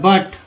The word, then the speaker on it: but: तो यहाँ पर यू का उच्चारण अ के रूप में हो रहा है, बट।